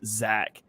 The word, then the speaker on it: Zech: It's spelled Zech, but pronounced Zach.